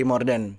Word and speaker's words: Mordèn: Bacanya sebenarnya Morden cuman di banyak yang bilangnya Morden.